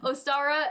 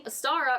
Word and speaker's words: Ostara: The name Ostara originates from an ancient Germanic goddess, which I think it's pronounced like Easter.